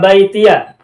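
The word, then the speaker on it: بَيْتِيَ: Tuh, silakan perhatikan ada kata baitiya. Kita kasih tanda kuning ya. Tuh baitiya itu semula bacanya adalah baiti, yang artinya adalah rumahku. Nah, di sini kata baiti bacanya difathahkan baitiya. Nah, kita juga bisa temukan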